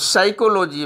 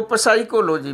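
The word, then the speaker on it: psychology: से कई जगह अब साइकोलॉजी में पी साइलेंट रहता है, कई लोग इसको पसाइकोलॉजी भी कहते हैं, तो इस प्रकार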